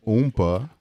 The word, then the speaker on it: Oompa: okay I have the pleasure of bringing in oompa oompa okay that is how they pronounce the name right that's it I mean